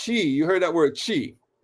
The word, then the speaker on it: qi: Now, the word for chi, you heard that word chi, they associate that with Chinese medicine.